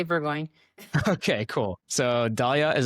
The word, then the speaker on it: Burgoin: So, Dalia Burggoyne, am I pronouncing that right? Yes. Burgu or Burggoyne.